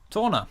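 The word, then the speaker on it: Tawna: I can't remember how you pronounce it. Torna.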